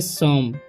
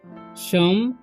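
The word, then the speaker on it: some: ई है ठीक तो ऐसा जब वर्ड आए फोर लेटर वाले और यहां पर मतलब सेकंड में ओ हो और लास्ट में ई हो तो ओ का उच्चारण क्या हो जाता है अ हो जाता है ठीक इसे पढ़ेंगे सम सम एप्पल एल्स मतलब होता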